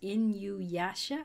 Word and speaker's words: Inuyasha: is this which I believe I believe it's pronounced Inuyasha I have not played it I've heard it's